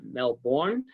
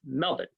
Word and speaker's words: Melbourne: in Australia, you know, the R is silent in many words, so it's not Melbourne, it's Melbourne. And if you want to